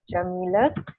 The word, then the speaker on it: Yamile: That's how you pronounce it, Yamile.